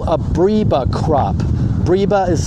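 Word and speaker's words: breba: which has what we call a briba crop briba is spelled b-r-e-b-a that means it produces two crops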